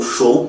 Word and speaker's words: Zhou: com usou usou então o show também dependendo do local é aonde é assim que se pronuncia começam a comandar a